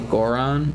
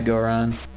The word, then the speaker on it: Goron: you can hear it it's not a Goron or Goron Goron I like to call them gorons even though I know everyone pronounces it Goran Goron Goron the gore